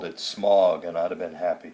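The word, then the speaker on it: Smaug: the film I don't like the way they pronounce smog yeah that was really weird they could have just called it smog and I'd have been happy that's how at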